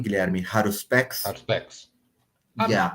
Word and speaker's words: Haruspex: Haruspex. Is that the name, Guilherme? Haruspex? Haruspex. Yeah. Haruspex is silent age, né?